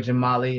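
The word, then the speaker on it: Jamaali: hey it's your boy jamali aka jam jam art aka the one and only j a m a a l i with an invisible z on the end because i know a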